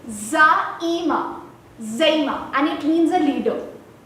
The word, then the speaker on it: Zaeema: So I have been called by hilarious names like Zima, Zamina, Gemma, and very recently Jamia, as in Jamia University. But the actual pronunciation of my name is Zaima, and it means a leader.